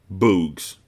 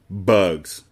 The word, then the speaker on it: bugs: "Bugs," he said. "Good," said Stanley. "Remember, it's a short U if there's no E at the end."